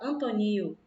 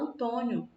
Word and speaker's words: Antônio: Antônio, a gente não fala Antonio, né? A gente fala Antônio, nho.